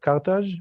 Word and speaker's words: Carthage: So Spain, France, Algiers, Morocco today were Carthage and Carthago in Hebrew and Phoenician. How you say it in English? Probably Carthago, no?